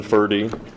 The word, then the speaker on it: Forde: so uh my name is fery that's a Norwegian ised mispronunciation of uh my name and I'm at